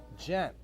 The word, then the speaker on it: Gent: It rhymes with my last name. You know what my last name is? No. Gent.